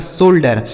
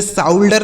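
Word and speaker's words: shoulder: आर से र लिखा शोल्डर इसे साउल्डर नहीं शोल्डर ठीक है इसे बाउल्डर नहीं बोल्डर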